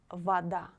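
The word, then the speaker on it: вода: example what what and we pronounce the letter o like a if this letter is not stressed in this word for example vada vada you see the letter o should be pronounced like a vada not if the letter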